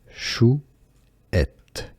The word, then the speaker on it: chouette: It's pronounced as chouette, chouette.